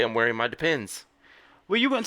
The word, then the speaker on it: Depend: Depends. That's what I've always thought they were called, but it turns out they're not depends. Take the S off.